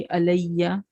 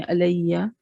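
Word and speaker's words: عليّ: या अलामत वाला या, तो डबल या हो गया तो फिर तशदीद आ गई, अलैया, इसको ऐसे प्रोनाउंस करेंगे अलैया।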